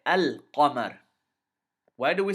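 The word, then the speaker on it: القمر: So we say al-Qamar. Al-Qamar. We pronounce the lam clearly, separately from the qaf.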